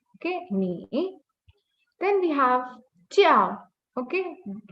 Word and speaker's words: 叫: Then we have jiao, okay, the letter J pronounced as ch.